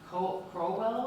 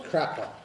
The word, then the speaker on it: Crockwell: Crowell? It's Crockwell.